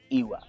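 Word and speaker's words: ìwà: be talking on i.w.a iwa is pronounced iwa and when a child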